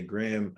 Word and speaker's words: Graham: And when I say Graham, it's like graham cracker, spelled like someone's last name, Graham, not like Instagram or Graham of sugar or something like that.